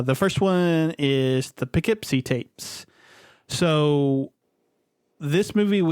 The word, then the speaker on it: Poughkeepsie: p and then keep so like I just poke see yeah but it's pronounced Poughkeepsie um so the Poughkeepsie tapes is a movie